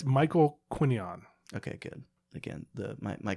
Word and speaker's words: Quinion: someone say his last name correct it's Michael quinion okay good again the my Kipling blue how do you not know how to pronounce the guy from an obscure website I